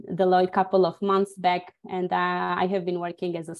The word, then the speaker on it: Deloitte: with my career and I joined Deloitte this is how it is pronounced uh the Lloyd couple of months back